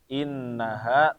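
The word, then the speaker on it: إنها: terutama tadi di bagian innaha innaha nah yang pertama itu ada tasdidnya maka dibacanya ditahan jangan sampai jangan atau lebih cepat innaha alaiim lebih fokus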